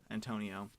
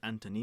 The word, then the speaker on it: Antonio: has ever been pronounced so my first name Antonio is generally pronounced correctly unless someone says Anthony no mm-hmm which happened